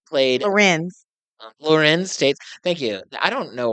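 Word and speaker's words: Larenz Tate: Lawrence Tate played Lorenz Tate.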